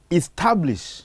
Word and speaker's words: establish: The word reads establish, so you put a stress on the second syllable.